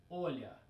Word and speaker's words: Olya: Olga, Olga, Olya, short version, okay? And then if we put this into English pronunciation or English transcription, it will be Olya, right?